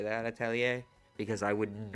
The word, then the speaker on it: Atelier: Also, I'm glad you taught me how to say that, Atelier, because I would not, like, I would literally have kept mispronouncing it.